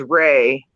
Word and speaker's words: Rea: Last name is Ray, and it's spelled R-E-A.